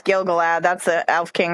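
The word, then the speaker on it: Gil-galad: not used to well and I got his name wrong too it's gilgalad that's the elf king right now I am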